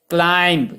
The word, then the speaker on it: climb: जैसे सी के बाद अगर व्यंजन एल आ रहा है, क्लाइंब, CLIMB, क्लाइंब, उसको क्लाइंब पढ़ते हैं, स्लाइम नहीं पढ़ते।